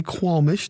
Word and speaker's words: qualmish: word of the day kwamish two syllables it's an adjective q-u-a-l-m-i-s-h